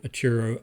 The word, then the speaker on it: Atauro: Today's episode is about Atauro Island, also called Atauro Island, depending on your English or Teton pronunciation.